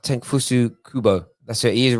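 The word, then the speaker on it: Takefusa Kubo: Is it pronounced Tenfusu Kubo?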